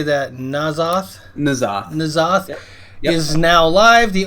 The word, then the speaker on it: N'Zoth: N'Zoth.